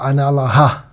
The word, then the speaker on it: Analah: Now, the name is consisting of 3 syllables, or if you take it, it can also be taken as 4, Analah. So the Sanskrit breakup can be An, Allah, A, Nala, or Ana, La.